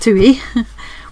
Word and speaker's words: tui: The other little piece is a tui, pronounced tui, one of our most beautiful native birds.